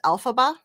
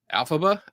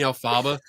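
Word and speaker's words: Elphaba: I'm all right for Susan Gerbick is excellent and Kenny is pronounced Alphaba. Alphaba. Oh, I know. I keep saying Alaba.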